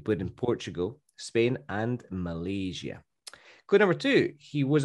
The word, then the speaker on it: Malaysia: say that in spanish he absolutely nailed the pronunciation of malaysia it's not malaysia as many spanish people spanish speakers usually say it's malaysia so this guy he